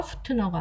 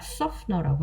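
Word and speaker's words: softener: 신경 써야 되는 거 신경 쓸게 많아요 t가 묵음입니다 그래서 소프트너가 아니라 소프트너라고 하셔야 돼요 그래서 섬유유연제는 영어로 뭐다 자 그다음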